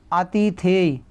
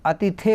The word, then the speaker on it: अतिथेय: अब देखिएगा आगे देखेंगे, लिखा हुआ है आतिथेय। आतिथेय कोई शब्द है? कोई शब्द है ही नहीं आतिथेय, ठीक। अतिथेय होता है, आतिथ्य, देखिए ये आतिथेय